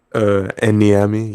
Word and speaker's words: Enami: Enami? Enami, yes.